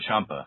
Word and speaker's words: Ciampa: I know the dude, but I cannot pronounce it. This is Tommaso Ciampa.